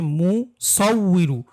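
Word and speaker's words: مُصَوِّرُ: এ জায়গায় অনেকেরই উচ্চারণ করতে সমস্যা হয়, এটা হচ্ছে মুসাউইরু, সদ ওয়াও জবর সৌ, ওয়াও জের উই, সাউই, মুসাউইরু।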